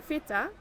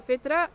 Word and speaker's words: fitra: Yeah, the fitra. The fita.